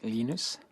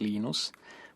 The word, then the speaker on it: Linus: What's your preferred pronunciation? When I speak Swedish, it's Linus. When I speak Finnish, it's Linus. When I speak English, it's Linus.